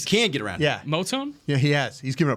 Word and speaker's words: Moton: Is that how you say it, Moton? Moton. Yeah. But I think you're saying you don't think they can get around him. He's given up the most sacks. Oh, you can get around him. Yeah, Moton.